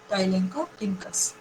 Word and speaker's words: Tylenchorhynchus: of importance: Dolichodorus, Silencus, Tylenchorhynchus, Velonolemnis. So whenever you pronounce in Tylenchorhynchus, some may pronounce it like ch as ch. So don't pronounce ch as ch. It is ko. Tylenchorhynchus.